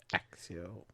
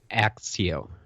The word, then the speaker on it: Accio: Okay, the first one I come up with, a lot of people come up with, is accept. Oh, okay, yeah. ACC, and you get that ac Sure. right before the ept, so it's Accio.